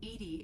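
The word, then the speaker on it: EDI: are you named Ed Ed is the phonetic pronunciation of Eed that is an acronym for enhanced defense intelligence what do you do aboard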